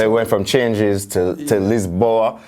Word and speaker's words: Lisboa: So it went from changes to Lisboa that's the Portuguese pronunciation? Lisboa, yeah. So in English we just say Lisbon.